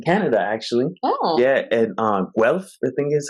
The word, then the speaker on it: Guelph: Yeah, and Guelph, I think is how you say it.